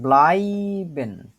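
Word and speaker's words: bleiben: যে এইটা আছে এই শব্দটাকে বলা হয় হচ্ছে ব্লাইবেন ব্লাইবেন উচ্চারণ করেন তো ব্লাইবেন ব্লাইবেন ইয়া বুকটা বিবরণ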